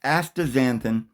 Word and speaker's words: astaxanthin: Astaxanthin, pronounced astaxanthin, is a powerful red-orange pigment belonging to the carotenoid family.